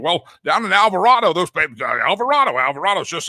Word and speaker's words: Alvarado: But I'm telling you, it's pronounced Alvarado, Texas.